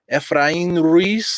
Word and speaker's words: Efrain Ruiz: Efrain Ruiz. That's how you say it in Puerto Rican.